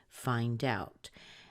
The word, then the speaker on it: find out: looks like a preposition you're going to stress the second word a lot more so we have find out find out and the next thing